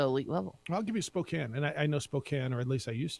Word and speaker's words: Spokane: tell you gonzaga's put Spokane on the map some people still call it Spokane because that's how it's spelled I'm gonna put it